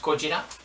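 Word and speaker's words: ゴジラ: Today's new video is going to be about this movie and about Godzilla, pronounced Gojira.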